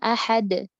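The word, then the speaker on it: أحد: Kayak harusnya kan ahad. Jadi ahad ada de gitu salah. As-samad, as-samad. Nah, dibacanya as-samad, as-samad ditambah hamzah seperti itu salah.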